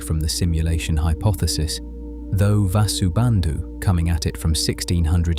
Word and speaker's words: Vasubandhu: Vasubandu pronounced Vasu Bandu was the sharper philosopher.